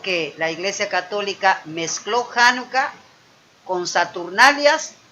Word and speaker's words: Janucá: bien la festividad de januca transliterada al inglés como chanuca así lo va usted siempre contar con che en el inglés pero se pronuncia janucá llamada la fiesta de